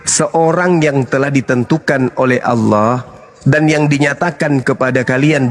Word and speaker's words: Allah: Allah. Karena ini berasal dari Quran, maka kami membacanya Allah.